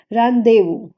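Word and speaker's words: rendezvous: एंड हमारा eighth word है रानदेवू। यस, थोड़ा सा ऑकवर्ड है, लेकिन इसको हम लोग प्रोनाउंस यही करते हैं हिंदी में, रानदेवू बोलते हैं, ठीक है।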